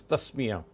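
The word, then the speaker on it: تسمية: first condition, which is tasmiyah. So tasmiyah means taking the name of God. Tasmiyah. Tasmiyah is how you would pronounce it or write it in these spellings in the English language.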